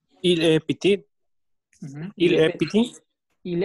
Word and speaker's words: petit: Pero cuando hablo de la niña, ahora ya suena la T. Elle est petite, agregó la E y ahora la T se pronuncia.